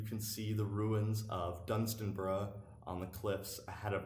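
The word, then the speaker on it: Dunstanburgh: another ruined castle called Dunstan bruh which is not spelled like it sounds it's d u n st a and B you are th pronounced Dunstan bruh just like Edinburgh a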